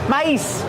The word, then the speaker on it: mice: Use a long I like nice and twice.